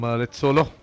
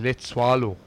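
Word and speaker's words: Letsoalo: that a wide from let solo already four wides and two no balls they bow one extra over it's actually let swallo that's the right pronunciation with the s o a l o swallow she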